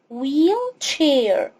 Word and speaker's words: wheelchair: ch بتدي صوت تش، والاي بتديني لونج اي، يعني صوت اي طويل، انطق الاي باسمها. الاتش هنا silent، يعني اكتبها وما انطقهاش، فاقول wheelchair.